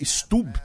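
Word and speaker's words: Stubb: é o Alexander stub que stub né acho que a pronúncia mais correta que foi primeiro ministro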